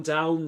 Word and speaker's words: down: Tumble down, down rhymes with found, as in the past simple or the past simple form of find, found, down.